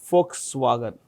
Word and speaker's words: Volkswagen: It's um owned by a comp company called Folkswagen. Folks wagon. It's pronounced with an F. V is pronounced with an F.